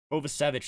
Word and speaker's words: Kovacevic: Kovacevic, that's how you pronounce that guy's name. I remember hearing it pronounced before. I just didn't remember how it was pronounced. Kovacevic.